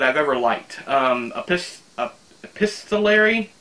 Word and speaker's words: epistolary: ever liked of this pistol Larry I think that's how you pronounce it Sarah help me for the longest time I called it Epis Tolly arey I don't know why but as they believe it's epistolary and the story is